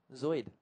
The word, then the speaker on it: Zuid: Zuid-Afrika is how you say South Africa in Dutch. Zoid.